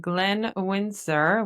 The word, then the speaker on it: Glenn Wynsor: Today we have Glenn Windsor, which is Did I pronounce that well?